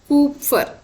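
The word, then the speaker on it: Kupffer: we have this uh cup for cells or your actual pronunciation is pooper pooper cells so these are essential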